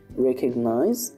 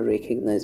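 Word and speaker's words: recognize: অর্থ বাহিরে এরপরে যেটা আছে সেটি হচ্ছে যে রেকগনাইজ রেকগনাইজ অর্থ চিনতে পারা সরি সরি আচ্ছা তোমরা এখানে দেখতে পাচ্ছ যে এই শব্দটির উচ্চারণ কিন্তু আমরা রেকগনাইজ বলেছি আর তোমরা যদি নিজেরা এটা পড়ো তাইলে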